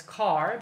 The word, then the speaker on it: char: to do with this char thing here and that char thing actually would be better pronounced as car because it comes from character so basically a string